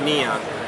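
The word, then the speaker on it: Niion: This is called the Neon series, and that's N-I-I-O-N. It's pronounced Neon.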